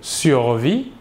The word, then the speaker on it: survit: Le S et le T final de la terminaison ne se prononcent pas, mais s'écrivent.